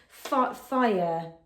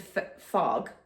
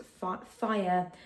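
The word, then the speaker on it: Fage: It's called, oh, it said, tells me what it's pronounced. It's called fire, even though I would have assumed that was just called Farg or Fargate, but apparently it's pronounced fire.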